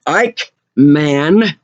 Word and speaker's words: Eichmann: hospital because ceo don ike man man like like a huge man is spelled the same way ik m-a-n don eichmann